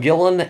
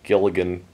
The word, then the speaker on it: Gillan: But then again, I always used to say, like, Karen Gilligan still, and stuff like that.